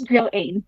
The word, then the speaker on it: Joainne: Is it Joane or how would I pronounce it? Uh, yes, it's Joane.